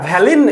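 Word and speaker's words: valign: ব্যবহার না করে আমরা ভ্যালিন অ্যাট্রিবিউট ব্যবহার করে আমরা এটা করতে পারবো। জিএন, এখানে জি এর উচ্চারণ হবে না, হ্যাঁ ভ্যালিন, ভ্যালিন অ্যাট্রিবিউট আমরা ব্যবহার করে কিভাবে কোডটা করি সেটা তুমি দেখো।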